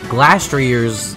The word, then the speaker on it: Glastrier: Glastrier's, yes I found out how to say it, design is really just average to me.